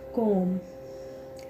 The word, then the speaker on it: comb: उसके आफ्टर जैसा है कॉम, COMB, बी तक प्रोनाउंस कर सकते हैं लेकिन उसके बाद जो है आपका नेक्स्ट लेटर स्टार्ट होता है फ़ोन नंबर का डेप्ट।